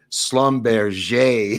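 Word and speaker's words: Schlumberger: at a Louisiana he was involved in the Slumber let me let me just pronounce the French for people at home or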